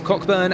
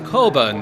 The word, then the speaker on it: Coburn: And then it will be Chris Cochburn and Ross, excuse me, let me take a breather. That's not how you say his name. It's Chris Coburn there.